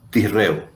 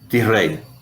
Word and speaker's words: Tishrei: El séptimo mes es el mes de Tisreu. Tisrei. Es una pronunciación media. No estamos acostumbrados.